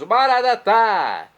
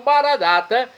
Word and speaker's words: Maranata: E agora eu clamo, do aramaico, dialeto de Jesus, Maranatá, como dizemos nós católicos, ou Maranata, como dizem nossos irmãos separados, os evangélicos ou protestantes. Não importa, a pronúncia e o significado é o mesmo.